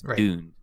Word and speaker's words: Dund: doomed and that's why that's how you're supposed to pronounce it it's DED right but most people will say dunned anyway and it's fine again